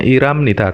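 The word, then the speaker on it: 일합니다: Terus iram nida bekerja, ilhada, ilhada, membacanya iram nida karena R posisi H di tengah nggak kebaca, maka naik seperti iyang ya.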